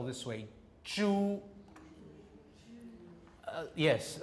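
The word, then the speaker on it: 猪: they spell this way, zhu. Yes, a lot of people say it like that, as though it's Jew. He's a Jew, all right? Now, what they're doing is, it's a pure vowel, so the tongue should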